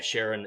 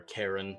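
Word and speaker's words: Charon: But yeah, Sharon is, or Karen, depending on how you pronounce it, is the ferryman over the river Styx into the underworld.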